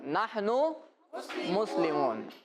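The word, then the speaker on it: نحن مسلم: हां अब अरबी में बोले नहन मुस्लिम दोबारा बोल ननु मुस्लिम ननु मुस्लिम नहन मुस्लिम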